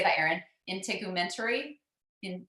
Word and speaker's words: integumentary: dietary supplement how do you say that Erin integumentary in integumentary okay um anyway so frankincense I once heard